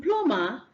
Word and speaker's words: plumber: They have the same set of letters from umber, but in plumber, the B is silent, but in number, the B is not silent.